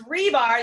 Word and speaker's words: Hribar: It's Hribar. The H is silent.